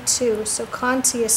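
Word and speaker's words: Conté: generals charcoal um or Cony you can use coni too so Conti is spelled c o n te and Conti is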